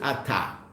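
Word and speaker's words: אתה: It's just aleph taf. So it's as if it's really at, but we pronounce it ata.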